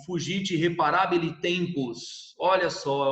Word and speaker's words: fugit: Aí o fugite reparabile tempus. Olha só, é uma frase em latim, para falar a verdade, ali a pronúncia é fugit, né? Não se pronuncia fugite, né? É fugit.